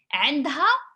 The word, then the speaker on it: عندها: Pronunciation عنده ما عندوش. عنده ما عندوش. عندها ما عندهاش.